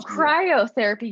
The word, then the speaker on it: cryotherapy: chiropractic is that the no it's c-r-y-o-t oh cryotherapy yes yes yes that is another therapy okay i thought you said cairo therapy so i wasn't sure but yes cryotherapy biotherapy yeah no that's all right we got